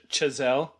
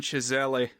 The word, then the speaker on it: Chazelle: Chazelle?